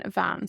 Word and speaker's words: bhean: So we had ban, and that changed to an bhean. So the B sound changed to a V.